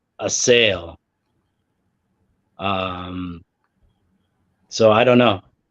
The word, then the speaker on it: Asyl: fish or something um the German word for Asylum and it's it's asy as as Nas likes to say it but the pronunciation that they gave was uh a sale um so I don't